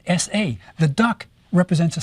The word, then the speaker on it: sa: of a duck, merely is there because it's pronounced S-A.